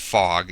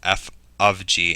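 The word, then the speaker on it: f∘g: f of G and that's how you say it's not fog it's f of G and a lot of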